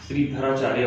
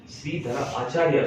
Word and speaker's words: श्रीधराचार्य: पहले तो नाम प्रोनाउंसिएशन इसका अच्छा होना चाहिए, लोग इसका श्रीधराचार्य बोलते थे, श्रीधराचार्य, ठीक है, श्रीधरा आचार्य इसको कहते हैं।